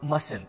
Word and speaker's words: mustn't: guys correct must not or mustn't repeat it mustn't not mustn't the T here is silent get it and the